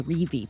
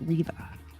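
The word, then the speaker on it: Reve: It's spelled R-E-V-E, so I keep wanting to say Revi, but it's pronounced Riva.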